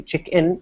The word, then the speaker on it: check-in: I'm going to the check-in counter, and it differs in just a slight way from chicken because the first vowel sound is a little different.